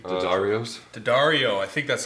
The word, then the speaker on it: D'Addario: D'Addario, I think that's how you pronounce that.